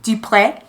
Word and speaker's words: Dupre: A man named Mr. Dupree, D-U-P-R-E, Dupree. Dupree? Dupree. D-U-P-R-E? Yeah. Dupree. Dupree. Now we've got correct pronunciation.